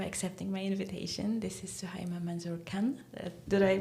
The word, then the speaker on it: Suhaiymah Manzoor-Khan: This is Suima Manzor Khan. Did I pronounce it right?